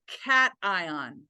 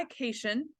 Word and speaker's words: cation: that is a cation please say it correctly it is not occasion I know that that's how we would pronounce it like vacation I get that but in the context of chemistry it is a cat ion okay when the non-metals